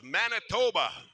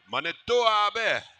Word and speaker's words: Manito Ahbee: Sometimes we pronounce this area as Manitoba. That's mispronounced, ladies and gentlemen. Manito Ahbee.